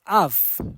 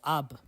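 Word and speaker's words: אב: But something very interesting in the Hebrew is that, the word for father in Hebrew is Av. It's Aleph Beit, right? Or Ab in other pronunciations.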